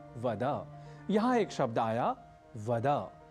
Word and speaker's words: वद: यहाँ एक शब्द आया वद, पर हम संस्कृत के इस शब्द को अन्य भाषाओं से प्रभावित बल्कि कुप्रभावित होकर बोल जाते हैं वद, यानी त्वं नमो नमः वद।